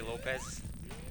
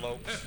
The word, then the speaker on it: Lopes: Cuz sometimes people say Lopez instead of Lopes, but that that doesn't bother me.